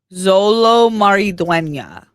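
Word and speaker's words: Xolo Maridueña: So I can learn pronunciation. Okay. Solo Maridueña. Zolo Maridueña.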